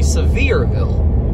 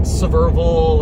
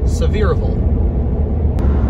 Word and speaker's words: Sevierville: So the pronunciation is actually Sevierville. Not Sevierville or Sevierville, it's Sevierville.